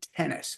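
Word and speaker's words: Tenace: early 80s named Jean tennis not spelled like the sport but spelled like the word 10 and the word Ace Tennis uh he was a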